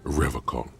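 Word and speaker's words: Revachol: He pronounces Revacol with a hard K, unlike other people.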